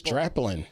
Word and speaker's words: Draplin: Well, the first one was Aaron Draplin, who most... if I'm pronouncing that right. Oh, most it's Draplin.